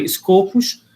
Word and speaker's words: Scopus: que faz os copos Na verdade o pessoal pronuncia escopos Mas tá bom bom